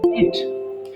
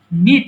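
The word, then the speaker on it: knit: নিট মানে বোনা দেখো এখানে কে এর উচ্চারণ হবে না সো এটাকে বলতে হবে নিট আচ্ছা দাঁড়াও একজন জয়েন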